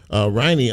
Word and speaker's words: Riney: Is it Riney? Did I pronounce it right?